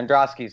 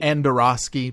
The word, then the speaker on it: Androsky: Yeah, Androsky's good. People like to throw in consonants. There aren't any. It's Androsky. Andorosky, perhaps?